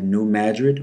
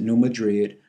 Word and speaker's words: New Madrid: fault line called the New Madrid or some people pronounce it New Madrid Fault in Northeast Arkansas